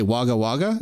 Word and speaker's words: Wagga Wagga: this place it's cool places fun to say wagga wagga am i saying it right that's right awesome